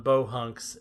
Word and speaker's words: Beau Hunks: So Bohunks, the film, sounds like that, but it's spelled B-E-A-U, new word, H-U-N-K-S. It is a pun on Bohunks and Bojest.